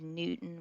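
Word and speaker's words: Knewton: You have Newton, which is spelled with a K in.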